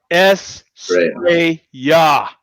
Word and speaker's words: Estrella: And Estrella pronounced Estrella in Spanish. That was pretty good. Thank you for helping us pronounce that.